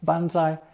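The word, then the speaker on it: 万歳: By the way, it's also the same phrase in Japanese pronounced bonsai and very commonly used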